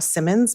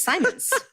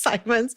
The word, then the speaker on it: Simons: Most of the time people say Ruth Chou Simmons because we don't learn phonograms anymore in America. Oh, yeah. It's Simons. It's Simons.